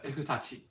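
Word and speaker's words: 衛府太刀: It's not like efu, like in English you get a f, but in Japanese it's more a hu. So it sounds like a H, kind of between an H and an F, so efutachi.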